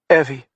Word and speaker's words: Evie: Evie, she says, a short e rhyming with Chevy.